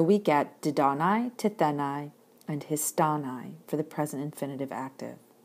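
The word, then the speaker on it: ἱστάναι: need to know that the accent is fixed in the syllable right before the nigh and so we get didanai tethenai and histanai for the present infinitive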